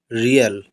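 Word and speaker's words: real: इसके बाद आगे देखिए आर ई ए एल, यहाँ पर देखिए, यहाँ पर आर ई से क्या हो गया, री, ए एल से यहाँ पर हो गया अल, रियल, रियल, इसको रील नहीं पढ़ेंगे।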